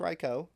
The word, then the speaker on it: Raikou: We got Raikou. However you want to say it. Technically pronounced Raikou.